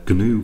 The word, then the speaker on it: GNU: The compiler that I'm going to be using for these tutorials is the GNU compiler. The G is actually pronounced in GNU, I believe.